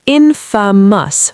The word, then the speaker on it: infamous: Infamous is infamous, 3 syllables, stress on the first.